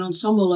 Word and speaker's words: ensemble: we describe as an ensemble of um uh um AI techniques um or the British pronunciation is actually the French pronunciation ensembl but uh you